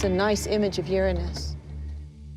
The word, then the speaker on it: Uranus: pronounce the planet's name uranus which is very likely closer to the original pronunciation of the name of the god after whom it was named if you think uranus